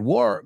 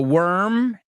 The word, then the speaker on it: worm: Just be careful with the pronunciation because you said war. You kind of extended the vowel. So remember this. The worm is warm.